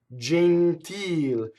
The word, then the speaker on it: gentil: Now we know this E is closed because where is the stress? The real word is gentile. So the accent of the word is on the E vowel, so therefore the E is closed. And I underline ones that we would tend to open, right? Our instinct would say gentil, right? Gentle is an English word, right?